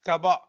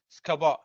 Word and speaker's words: SCBA: Normally it is pronounced as SCABA. SCBA, but pronounced as SCABA.